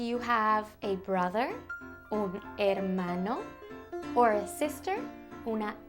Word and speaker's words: hermano: Do you have a brother, un hermano, or a sister, una hermana? Brother and sister in Spanish is hermano y hermana. It starts with an H, but you don't really pronounce the H.